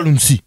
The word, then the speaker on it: Lunsi: T'as bien prononcé Lunsi.